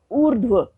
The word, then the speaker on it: ऊर्ध्व: देखते हैं, जैसे ऊर्ध्व, ऊर्ध्व, आप उच्चारण से समझ पा रहे होंगे कि रेफ र लगा तो व के ऊपर है, उससे पहले स्वर रहित ध है और रेफ र का उच्चारण ध से भी पहले हो रहा है, ऊर्ध्व।